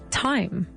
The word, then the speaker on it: thyme: This is with a th but we don't pronounce it with a th you say time.